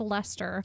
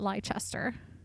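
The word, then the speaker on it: Leicester: figure out it was it was pronounced Lester not liester so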